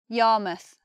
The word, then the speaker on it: Yarmouth: We have Plymouth, Bournemouth, Yarmouth. So instead of mouth, it becomes muth.